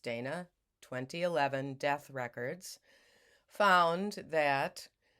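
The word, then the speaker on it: Dhejne: videos by Cecilia d-h-e-i-n-e I think it's pronounced Dana 2011 death records found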